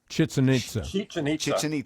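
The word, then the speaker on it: Chichén Itzá: I don't know if I can pronounce this. Chichen Itza? Chichen Itza.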